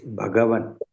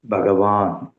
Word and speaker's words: भगवन्: Third line, it is Bhagavan. Don't pronounce as Bhagavan.